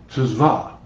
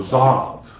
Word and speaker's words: Tzav: So, tzva, or zav, depending on your pronunciation.